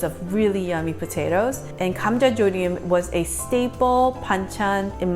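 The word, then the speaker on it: 감자조림: Gamja is pronounced G-H-A-M, Gamja, J-A, Jo, J-O, Rim, R-I-M.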